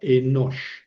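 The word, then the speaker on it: אֱנוֹשׁ: El puntito que tiene sobre la de la shin se confunde con el puntito de la hen plena. Es una hen plena esta letra. Ya no le pongo puntito porque este puntito de la shin hace las veces. Entonces es una sola sílaba enosh, ¿verdad?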